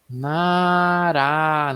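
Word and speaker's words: 나라: Como ele está na segunda sílaba, a gente vai ler como Nará, né? Com esse som de R lá, de arara, né? Esse som de um R só.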